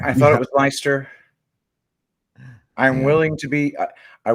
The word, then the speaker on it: Leicester: Yep, it's definitely Leicester.